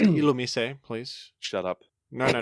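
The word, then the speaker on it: Illumise: better about it than Alum they're like the same I also it's pronounced ilum please shut up no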